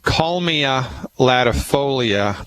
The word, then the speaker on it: Kalmia latifolia: First I'll say it and then I'll spell it. It's called Kalmia latifolia.